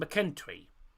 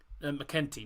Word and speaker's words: McKenty: back four of Kingsley, Finlay, Halkett and McKentry. McKenty, not McKentry. I keep saying McKentry.